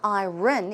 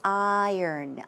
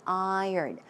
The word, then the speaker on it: iron: way you pronounce it it's not I run its iron iron iron stomach also diarrhea